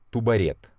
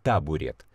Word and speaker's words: табурет: так и пишется теперь странное слово ту барретт это что-то непонятное это я даже не знаю что такое правильно туба red food и запутался табурет табурет опять-таки слова не русская